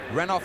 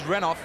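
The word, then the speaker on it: Renouf: hand to it and for those viewers that are concerned about our pronunciation of runoff or renovo we've had the call from the dressing room that it is runoff meningo now the angle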